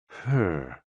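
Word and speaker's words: hē: HE, pronounced like her, with a yawn, which is associated with the heart.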